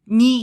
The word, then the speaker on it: 네: As we mentioned earlier, Yeonjun pronounces 네 as 니 here.